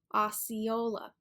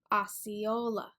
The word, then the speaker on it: Osceola: at the end and we usually stress that third syllable Osceola Osceola reporting live from Osceola